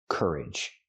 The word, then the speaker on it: courage: The noun is courage. Courage. Pronunciation. Use the sound like burger. Cur closed. Cur courage. And the second syllable is closed also. Courage. Put the stress on the first syllable.